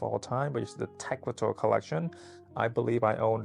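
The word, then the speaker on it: Tecuatl: The collection is named after Rick Owens' grandmother, mixed maiden name, pronounced Tecualt.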